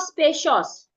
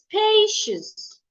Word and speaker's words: spacious: Another example is spacious. It's not spacious, it's spacious, spacious, spacious, not spacious.